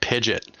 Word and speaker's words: Pidgeot: Big shout out, by the way, for pronouncing it Pidget. Big shout out. Yeah, a lot of people don't know it's Pidget.